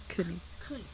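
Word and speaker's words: König: How do you pronounce his name? Konik? Konik? Let's see. Yeah, Kunik. Konik.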